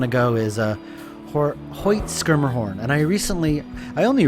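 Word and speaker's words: Schermerhorn: place we want to go is a Hoyt skirmer horn and I recently I only recently learned that it's pronounced skirmerhorn I've been calling it shermerhorn all my life and here we go I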